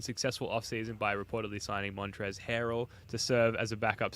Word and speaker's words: Montrezl Harrell: Montrezl Harrell, as I was told by Spoonie to pronounce. The Sixers The headline is here, put a bow on successful offseason by reportedly signing Montrezl Harrell to serve as a backup center.